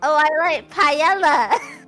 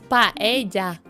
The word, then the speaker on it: paella: But I think the pronunciation of what I'm about to say might make you quite angry. I like paella. Okay, we're gonna stop that. We're gonna stop. It's paella. Paella.